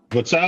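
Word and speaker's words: Vitali Klitschko: Vitali, not Vladimir.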